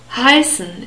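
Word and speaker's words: heißen: long e sound v.v Hyson is the verb for to be cold if you translate it literally Hyson starts with an h and this age is also pronounced we have another deform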